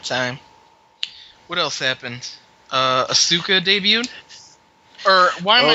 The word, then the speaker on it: Asuka: I would pronounce it Asuka the Japanese don't put a hard emphasis on the U they just go ASA